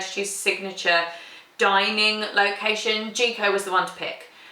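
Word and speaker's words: Jiko: It's in the Animal Kingdom Lodge where we're staying, but we are going to go to Jico, the cooking place.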